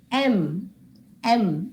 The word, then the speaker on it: M: is a consonant but how do you pronounce it m m so M when you spell the word m it begins with a wavel sound the sound that comes from your throat is a m so since the sound